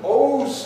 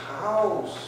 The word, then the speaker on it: house: You pronounce the E at the end. It's "Ose."